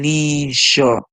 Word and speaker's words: leisure: sound we hear and the e at the end is silent so always remember when